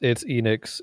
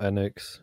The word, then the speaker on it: Enix: It's Enix. It's not Enix. It's Enix.